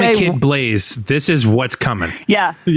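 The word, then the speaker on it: Blaise: Like, however you spell it, it's pronounced Blaze.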